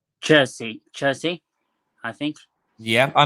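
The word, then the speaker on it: Chiesa: is magnificent how do you say his name jersey chelsea i think yeah i know who he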